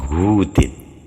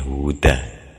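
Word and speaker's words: هود: Ini hudu ini hadza hudu gitu mestinya huda ngarokatinya. Jadi tumma huda gitu dijadikan munsarif bacanya. Kalau boleh dibaca hudin boleh tapi harus meniatkan ada kata surah di depannya.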